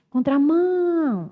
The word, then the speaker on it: contramão: Aí, quando eu demoro naquela sílaba, essa sílaba é a sílaba tônica. Demorei no mão. Contramão. Então, mão é a tônica.